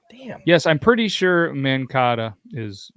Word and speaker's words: Mankato: Yes, I'm pretty sure Mankato is like the pasta. No, it's Mankato. I'm correct on that, right? Ka or Ko. We'll give it Kato.